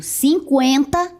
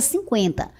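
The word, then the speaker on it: cinquenta: Agora você vai observar que a pronúncia é a mesma. Eu pronunciava antes 50 com o trema. E agora eu pronuncio 50 sem o trema, porque antes o trema servia para marcar a pronúncia do u.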